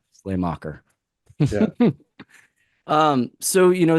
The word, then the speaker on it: Sleamaker: so that we know that s maker SLE maker okay see I would have butchered that one I would have butchered that one Slay Slay mocker yeah um so you